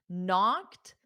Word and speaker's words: knock: spelled it as knocked because the K is silent so for spelling the K is required but for pronunciation notice it's KN knock